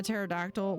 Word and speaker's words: pterodactyl: It's all about it's all about words that the first letter is silent.